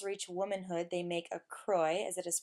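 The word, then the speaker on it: kroj: example when girls reach womanhood they make a croy as it is pronounced which is an embroidered and very individualized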